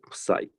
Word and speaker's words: psi: single greek symbol uh psi or plus i and depending on where from so the pronunciation is slightly different so i usually call it psy subside as a function